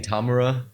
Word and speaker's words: Tamura: It's Tamura.